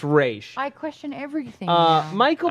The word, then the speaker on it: Ra's: It's Raish.